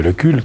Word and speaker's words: Lecul: Lecul, vous êtes avocat à Amiens, vous êtes aussi conseiller municipal, conseiller général, conseiller régional. Alors, je voudrais tout de suite vous demander, est-ce que l'on prononce Lecul ou Lecu, votre nom?